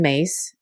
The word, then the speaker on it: Myss: This is another book by Carolyn Myss. It's pronounced Mace, but it's spelled M-Y-S-S.